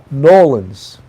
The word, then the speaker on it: New Orleans: Sharon Lane yes the wall and sounds similar to New York Nolan's Nolans right they don't say New Orleans we although really where you say New Orleans but Nolans right that's how they say it right uh what's the